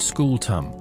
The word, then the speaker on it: scutum: This they explain is the asterisk skew star pronounced school tum which is Latin for hope you enjoy carrying this until your spine becomes decorative pottery.